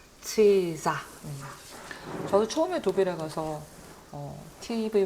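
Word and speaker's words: Cäsar: 치이사는 놀랍게도 우리나라에서 시저라고 부르는 그 인물입니다. 시저가 로마의 원로원에서 연설하는 장면인데요. 문화권에 따라 정말 다르게 부르는 것 같아요. 우리는 그냥 시저, 그리고 시저 그러기도 하고 케사르 그러기도 하고 하죠.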